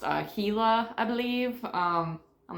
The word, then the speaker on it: Gila: that is the uh giant I was saying Gilla on the last EP or last episode last video when I was talking about watching this but it's actually pronounced a heila believe um I'm not the brightest but yeah